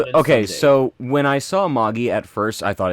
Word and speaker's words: Magi: my heart yes okay so when I saw moggy at first I thought it's a it was going to be pronounced Magi because you know that's how we usually say